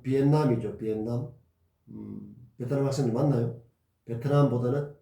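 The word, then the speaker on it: Việt Nam: 여러분들 베트남 하지만은 좀 더 원어에 가까운 발음은 비엔남이죠.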